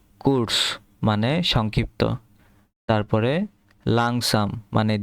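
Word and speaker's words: kurz: কুদস কস কস কুরস এটা হচ্ছে কস লাস্টে ছ উচ্চারণ হবে ছাতার ছ কস মানে সংক্ষিপ্ত তারপরে লাংসাম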